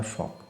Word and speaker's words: Volk: German भाषा में एक शब्द होता है VOLK, इसका जर्मन में प्रोनाउंसिएशन होता है फॉक।